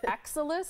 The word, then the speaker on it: Exilis: particular treatment um we're going to let you pronounce it because I was working on it during the break it's excellus excellus exus elite yes excellus Elite so this is something that can be used